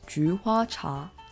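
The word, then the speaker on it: 菊花茶: In Chinese, we pronounce this as juhua cha.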